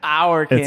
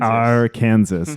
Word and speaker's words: Arkansas: we're like, no, bro, it's Arkansas. Yeah, our Kansas. It's our Kansas.